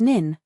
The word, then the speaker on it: n8n: For follow-ups, use N A10, pronounced nin, for automated sequences.